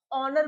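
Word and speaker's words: honour: ही बताया था मैंने कि जो आवर में एच जो होता है वो साइलेंट होता है। ऑनेस्ट में भी हमारा एच हमारा साइलेंट होता है। ऑनर में भी हमारा एच साइलेंट होता है। हम इसको आवर ऑनेस्ट और ऑनर पढ़ते हैं।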